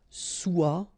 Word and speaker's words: soit: Okay, then of course être and avoir, so être will become soit, remember final S is not pronounced, soit, then soyons, soyez.